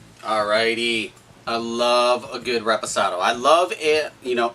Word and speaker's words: reposado: Reposado stands for rested. And a lot of people mispronounce reposado. They say restasado. No, that is not correct.